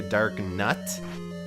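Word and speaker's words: Darknut: Now, it is, I think, technically a dark nut, but I've always pronounced it dark knot, and I think that just sounds cooler, but dark knots are enemies that have shields and swords, of course.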